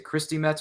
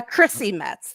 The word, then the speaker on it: Chrissy Metz: i'm pronouncing her name is it christy metz or christie metz uh chrissy metz there we go i just checked it